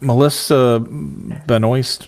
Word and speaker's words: Melissa Benoist: Because he gave up Melissa Benoist.